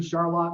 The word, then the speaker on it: Charlotte: Grew up in Charlotte, Michigan, just to point that out. Charlotte, spelled just like Charlotte, but for whatever reason, we don't pronounce it that way.